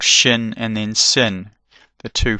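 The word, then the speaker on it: ש: It's called shin and then sin. The two forms of the same letter. One's got a dot on the right hand side. That's shin. It's got a shh sound.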